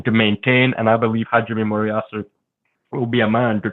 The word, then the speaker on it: Hajime Moriyasu: Is it Moriyasu? I have to excuse some of my pronunciation. No, Hajime Moriyasu is perfect, yeah.